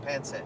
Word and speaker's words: pancit: Thank you, pancit.